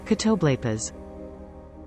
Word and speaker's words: Catoblepas: How to pronounce? All right. Catoblepas. Catoblepas.